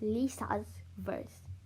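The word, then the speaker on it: Lisa's Verce: so yes my name my username actually is pronounced lisa's verse you know and how would you like spell that it would be like l-i-s-a apostrophe s v-e-r-c-e lisa's verse so yeah thanks for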